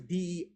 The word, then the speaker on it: DEI: Yeah, it's not DI. It's DEI.